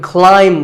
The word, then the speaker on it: climb: front of me now i could climb the ladder not climb a quick note in the pronunciation symbols that you see on the screen the a i is an i sound not an a sound so the word is climb by the way what's